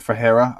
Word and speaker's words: Ferreira: Ferreira, I think. That's how you say it, Ferreira.